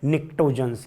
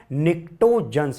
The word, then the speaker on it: pnictogens: और इस नाइट्रोजन family को एक प्यारा सा खूबसूरत सा नाम दिया गया है, निक्टोजन्स। क्या नाम दिया गया है? निक्टोजन्स।